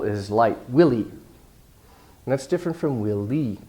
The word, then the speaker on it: Willy: short for William and she was pronouncing each syllable equally so it sounded like Willy and I thought she was echoing the question back to me will lead but she meant to say Willy we should have a